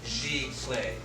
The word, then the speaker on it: Giclée: We're going to go over the history and the origination of the term Giclée, and that's how it's said, Giclée.